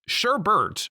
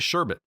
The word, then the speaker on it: Sherbet: for mispronouncing your name it's sherbet but I keep calling it sherbet like an ice cream this month